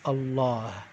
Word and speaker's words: الله: make these mistakes and the word allah is actually the emphasis is on the last half of the word so instead of saying allah say it's allah allah what would be an